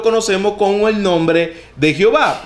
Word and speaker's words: Jehová: como el nombre de Jehová y la pronunciación Jehová es la combinación de las consonantes de H W con las vocales de Adonai como está en el texto mesoretico del Antiguo Testamento hebreo se conoce como ya